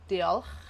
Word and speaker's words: diolch: So diol, diolch, gar, u.